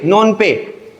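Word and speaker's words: Phnom Penh: पता है कंबोडिया की PhonePe नोन पे PhonePe चलाना है नोन पे स्पेलिंग थोड़े अजीब से है लेकिन आपके ऑप्शंस रहेंगे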